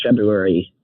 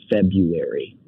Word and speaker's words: February: than I am it's February 9. do you bother pronouncing that month properly when you say it or you say February do you give that little r it's do do you say February I'm just asking sorry